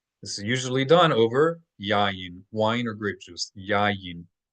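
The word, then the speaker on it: יין: This is usually done over yayin, wine or grape juice. Yayin. Yayin is wine or grape juice. Yayin. Yayin. Not yain. Not yain, but yayin. There are 2 consonant Y's.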